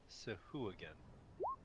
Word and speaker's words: Sahuagin: So apparently it's pronounced Sahuagin. Sahuagin? Yeah, I just looked it up. Weird. Like hooligan. Yeah, Sahuagin.